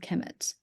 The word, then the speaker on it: Kemet: They're both pronounced Kemet.